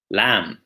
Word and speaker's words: lamb: some other examples might include calm doubt receipt lamb climb try it walk salmon calm doubt receipt